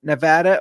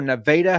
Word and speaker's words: Nevada: You can sign up in Nevada or Nevada, however you want to pronounce it.